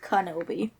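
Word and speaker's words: Kenobi: not going to let us go it's actually pronounced kanobi i'm sorry i'm really sorry you should be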